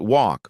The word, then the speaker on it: walk: Next, let's look at walk versus work. Walk has an open aw sound, like in law.